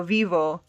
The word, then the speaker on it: vivo: of the word vivis whereas when you say yo vivo the front of the word sounds stronger right so whenever you have